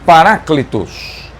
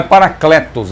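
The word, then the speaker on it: παράκλητος: Então, no grego, a pronúncia é exatamente esta, Paráclitos. Não é Paracletos, é Paráclitos. Paráclitos.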